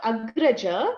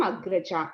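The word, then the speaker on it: Agrajā: When you say female, you have to extend the last syllable. So instead of Agraja, which was a brother, it became Agraja. Instead of Anuja, which is a brother, it became Anuja for sister.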